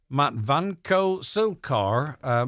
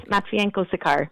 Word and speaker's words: Matvienko-Sikar: the programme by Matvanko-Silkar. My apologies, if I haven't pronounced that correctly. I tried my best, I swear. Thanks very much, Greg. So it's Matvienko-Sikar, but I'm used to the unusual pronunciation.